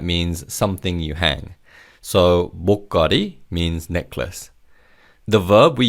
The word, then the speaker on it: 목걸이: The lir in the second syllable links with the third syllable as it begins with an iung. So it's 목걸이.